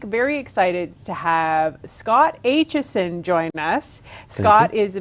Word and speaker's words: Aitchison: that people love too I know how to pronounce it yes but it is HSN it well I'm told it's HSN but you know my family told me that but there are some old folks around Huntsville that tell me I don't know how to pronounce my last name I'm running with HSN I usually answer to